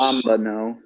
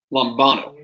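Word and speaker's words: λαμβάνω: Lambano. So you've pronounced everything right. The emphasis is on this syllable. I don't know if that means anything to you. Lambano.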